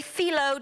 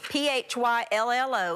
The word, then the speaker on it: phyllo: These are found in your freezer department of your grocery store, and they're little mini phyllo dough. P-H-Y-L-L-O is how you pronounce it.